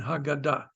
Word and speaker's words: Haggadah: But the G in Hebrew, the gimel in Hebrew is always a G sound, g, and Haggadah.